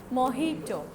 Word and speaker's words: mojito: It's not mojito. The spelling is this, but the pronunciation is mojito.